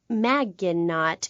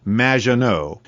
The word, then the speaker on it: Maginot: mispronounced my name it's madge which rhymes with badge uh as in duh and no as in more than you maginot anyway thank you for